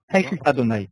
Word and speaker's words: Adonai: Alors, qui et le et, je ne vois pas comment le prononcer. Adonai. Avec Adonai.